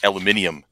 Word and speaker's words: aluminium: Like in England, aluminum is aluminium.